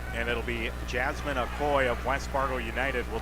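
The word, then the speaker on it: Akoi: And that will be, I believe the pronunciation is Aoy. A K O I is the spelling for the last name. And it'll be Jasmine Aoy of West Fargo United will take on Hadley V in the quarterfinals.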